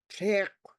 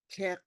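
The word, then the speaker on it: tléikw: You've been invited in, and you come in and you say tek, which means berries. Tek, TLEI, underline KW. Tek. And I think the E has a tone mark, tek.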